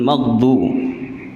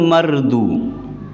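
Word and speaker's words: مغضوب: Contoh lagi yang kedua, di sini disebutkan ghairil maghdu. Maghdu ini kadang-kadang ada yang mengucapkan mardu.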